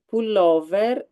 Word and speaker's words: pullover: You can say veril pull over pronounced in Italian pullover in vetrina.